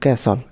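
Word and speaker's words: castle: এই টাইপের আরক rule number 11 শব্দে এসটি এল এর উচ্চারণ হয় সল এখানে ঠিক অনুচ্চারিত থাকে যেমন বাসল রাসল নাসলে এবং ক্যাসল এই টাইপের আর কি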